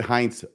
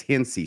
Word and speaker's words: Hinsey: I believe I said Heinz last Friday. I've been corrected since then by people who are apparently in the ward and stake, and I guess it's Hinsey, so I want to try and pronounce it correctly.